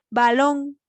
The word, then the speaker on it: balón: Balón. Entonces, el mayor golpe de voz va en la última sílaba, que es long, y además que tiene tilde.